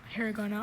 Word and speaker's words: hiragana: Hiragana. Are there any alternate pronunciations?